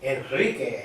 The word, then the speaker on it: Enrique: Enrique.